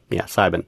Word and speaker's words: Sibin: This is Sibin. That's how you say it, Sibin. That's what they told me, Sibin. So it's almost like you're saying seven, but you're saying Psi instead of E, and the B instead of a V.